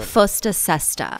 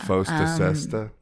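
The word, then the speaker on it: FOSTA-SESTA: Fosta Sesta. Fosta Sesta.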